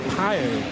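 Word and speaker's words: Pijl: So it's pronounced, I think, something like Pio.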